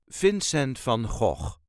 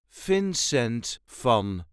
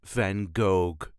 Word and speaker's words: Vincent van Gogh: duchies say Vincent f fincent f there is a light emphasis on the very first syllable of his first name fin sent f and please please do not pronounce it as van goog just keep trying that